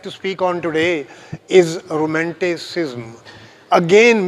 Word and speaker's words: romanticism: So, the subject which I have to speak on today is romanticism. Again mispronounced as romanticism. There is no U after S.